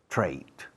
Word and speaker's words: trait: If you have something unpleasant to do, it's a normal human trait. Trait. Trait, escrito. Trait, pronunciado. Trait, como odio, hate, con TR en vez de H.